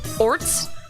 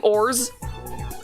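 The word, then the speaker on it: orz: There's no set way to pronounce it. People may pronounce it orts, ors, or ors. I do ors.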